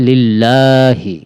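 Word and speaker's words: لِلَّهِ: শব্দকে মোটা বা ল বলে পড়তে করতে হয় উচ্চারণ করতে হবে লিল্লাহি লিল্লাহি আলহামদু লিল্লাহি আমার সাথে সাথে বলুন আলহামদু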